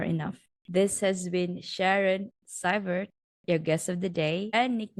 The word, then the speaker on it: Seivert: So according to her, quote, Seivert is the German pronunciation and Seivert is the French pronunciation.